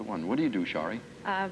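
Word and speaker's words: Sharie: to do my best to say it right shie that's perfect that I do them both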